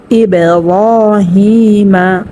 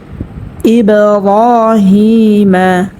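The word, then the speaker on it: إِبْرَاهِيمَ: তো এখানে আমরা কলকলা করিয়া একটু ধাক্কা দিয়ে পড়বো, ঠিক আছে। যেমন ইব্রাহিমা, র একালি পরিমাণ টানিয়ে পড়তে হবে। জবরে বাম পাশে খালি আলিফ মদের হরফ হয়েছে মধ্যে তবাই, এবং জেরে বাম পাশে জজমাল ইয়া মধ্যে তবাই হয়েছে এখানেও, ঠিক আছে।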